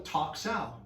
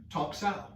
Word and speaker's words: Tok Sao: That's called a Tok Sao. And we pronounce it like we would talk, but usually when I write it, it's T-O-K. Tok Sao. And Tok Sao is not this.